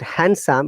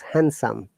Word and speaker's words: handsome: now if you remember if end is in between uh other words like this d is silent we don't pronounce d it is not handsome it is handsome okay handsome handsome yes